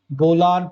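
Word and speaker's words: Bolan: this side is located at fertile प्लेन जहाँ पे खेती वगैरह की जा सकती है, नियर द बोलान पास या बोलन पास, जो भी आप प्रोनाउंस करिए, विच इज वन ऑफ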